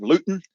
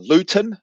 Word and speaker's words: Luton: Um, but I've seen some of the footage where he's gone to his town of Luton, uh, Luton or but they don't pronounce the T and just how different